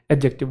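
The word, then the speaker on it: adjective: बार बता चुका हूं वैसे ए और जे के बीच में जो डी होता है वो साइलेंट होता है इसे एडजेक्टिव नहीं कहते मास्टर जी आज हम एडजेक्टिव पढ़ेंगे नहीं है य यह एडजेक्टिव है क्या है एडजेक्टिव डी साइलेंट है जैसे एक शब्द होता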